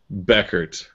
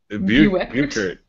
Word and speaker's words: Buchert: Chelsea says, take out the U, so pronounce it Beckert. Beckert. What were you saying? I said Buchert.